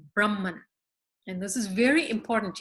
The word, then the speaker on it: Brahman: on this call know so Brahman is very different than the word Brahman or the word Brahman or Brahman both of which would refer to actually a particular class of people in society so we we don't